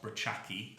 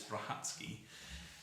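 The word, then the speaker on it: Brachacki: was born in poland and his surname is pronounced hatsuki not brachaki which is how it's spelled on the page but it's brahatsky and he was involved in the second world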